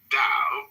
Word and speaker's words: Tao: But in the philosophy of the Tao, one finds a surprising contemporary perspective. The word Tao, properly pronounced Tao, has lent its name to a